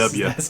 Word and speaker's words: Dubya: I'm good with the W. I think it's pretty fun. As long as you say it that way, the W. The W Show. You got to say it like George W. Bush.